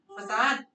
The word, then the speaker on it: facade: English में क्या pronunciation है? Facade. टी pronunciation है, द नहीं है. मतलब वो हिंदी का फसाद हो जाएगा.